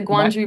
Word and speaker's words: Gwangju: Yes, the Gwangju Busking Gwangju Gwangju Busking World Cup, yep. Yep, it took me a few tries too. Yeah. Yeah, so fun. The Gwangju Busking World Cup in South Korea, yeah, in